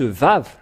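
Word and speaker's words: ו: Le Vav, c'est le V qui est dit ici. On le prononce Vav.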